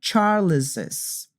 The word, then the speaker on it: Charles's: spacious jameses for Charles for example you say Charles's imagine it's JZ you say Jess's office we need to pronounce the second s but you don't need